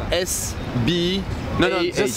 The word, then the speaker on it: Sbah: You want to spell it for you? It's S-B-A-H.